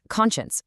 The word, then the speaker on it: conscience: And conscience collapses from what looks like con science into a quick sharp shun sound at the very end.